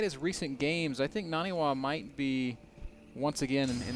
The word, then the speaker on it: NaNiwa: Sorry, Moro, I just said his name wrong. It's Naniwa.